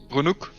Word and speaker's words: Runnock: How are you pronouncing it, Bacon? Runuk.